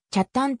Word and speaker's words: 北谷: たものである県外出身者など町名を読み慣れないものからは北谷と頭だか方に発音されることがあるが地元住民の間では hey 単にきゃっタンと発音されている西海岸に位置